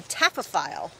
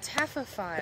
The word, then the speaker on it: taphophile: It is a taphophile. Taphophile. How do you spell that?